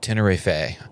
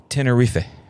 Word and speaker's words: Tenerife: No, you pronounced it wrong. But no, it's not Tenerife. It's almost like a throwaway. Tenerife is how I heard the Spanish person saying it.